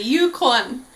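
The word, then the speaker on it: Yukwon: called Yukan um but in Korean it's uan kind of I don't even know how to explain it would be like saying the word one like you won something with a K in front of it yeah like you Yan you qu the jackpot that's a great way to put it actually Yukon um and his got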